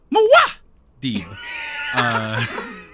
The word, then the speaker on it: Muad'Dib: The pronunciation is Muad'Dib.